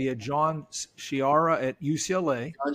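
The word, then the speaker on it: Sciarra: about how you'd compare, and I think I pronounced his name correctly. You had John Shiara at UCLA. John Shira, yeah.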